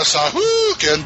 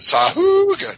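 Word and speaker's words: Sahuagin: It's not the Sahoogan, but it's the Sariel. Which you will find. That's how DM Mike pronounces it. Sahoogan.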